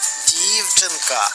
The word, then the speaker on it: дівчинка: слові наголошений склад дівчинка а в цьому слові якийсь склад наголошений дівчинка правильно наголошений перший склад пропоную потренуватися визначати